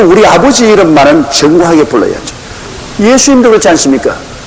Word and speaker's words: 예수: 예수님도 그렇지 않습니까? 정확한 예수님의 이름은 예수입니다. 예수. 우리 한국말이 딱 맞아요. 근데 이 미국 사람들은 자기들 발음에 맞춰가지고 지자스를 합니다.